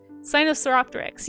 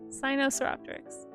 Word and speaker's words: Sinosauropteryx: Sinosauropteryx. Yes, that's how you say it. Sinosauropteryx.